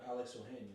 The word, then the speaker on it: Alex Ohanian: Oh, Alex Ohanian.